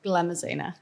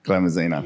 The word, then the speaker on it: Glamuzina: I have, I think it's a very exciting interview today with Zana, and your last name is pronounced? Glamuzina. Glamuzina.